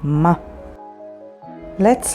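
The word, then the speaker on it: מלא: Mem sounds like ma. Let's learn some new words. Ma, which means what, and spelled with mem, hey.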